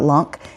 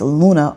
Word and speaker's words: LUNA: Now, guys, if you hear me say Luna, on Kraken, it's not L-U-N-C, it's not Lunk, it is Luna on Kraken.